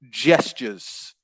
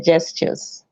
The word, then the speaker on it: gestures: use the word gestures it's just it's a j at the beginning so yeah because i i didn't wasn't it was the right pronunciation please gestures okay gestures that's it yeah good